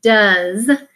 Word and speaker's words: does: But the OE in the middle says and that is a tricky part because that's not a regular vowel team. So you need to make sure that you practice the word does and remember that that vowel is a trick part.